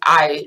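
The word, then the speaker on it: hay: but we always keep ey is exactly how it is remember that the H is silent so it looks like hey but it's pronounced I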